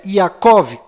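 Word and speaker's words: Yaakov: d mudo no final e Jacó que na verdade é yacov com v mudo no final e a letra Y no lugar do J Ah já que estou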